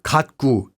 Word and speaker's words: 갖고: 가지고 or 갖고 can also be pronounced as 가지구 or 갖구 in everyday speech.